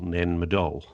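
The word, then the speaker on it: Nan Madol: for a minute and ask how you spell nanmadol yeah you see I get this wrong because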